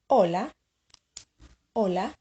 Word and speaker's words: hola: luego see you later remember that in Spanish the letter H is silent no famous see you